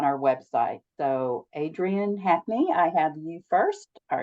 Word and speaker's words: Hackney: media or on our website so ad Brian Hackney I have you first are you here this evening I am did I pronounce it right yes you did okay thank